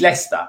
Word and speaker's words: Leicester: His name is Leicester. If you look up Lego, I don't know, London and Leicester, but they spell it different. They spell it as the name Lester.